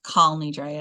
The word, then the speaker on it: Kol Nidre: So think about what was happening Jewishly when Kol Nidre, or Kal Nidre, as our Sephardic friends like to tell us, Kal Nidre because it's Aramaic. But if I were to say Kal Nidre in services, people would say, Rabbi, you're mispronouncing it, right?